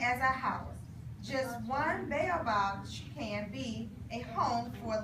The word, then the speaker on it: baobab: It looks like it's pronounced Baobab.